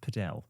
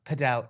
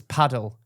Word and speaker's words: padel: Or as my brother thought it was pronounced, Podel. Padell. It is. I'm obsessed with it. Apparently, it is pronounced padel. I'm It's not pronounced pedell. It's paddle.